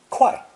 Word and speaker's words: 会: I said that this character 会 can also be pronounced 快, but you will only